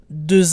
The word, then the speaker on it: deux: For example, two glasses is deux verres. The X is silent.